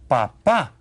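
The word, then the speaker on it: papá: padre my father me papa my dad and notice this accent here you stress the second syllable when you say papa okay well Pap okay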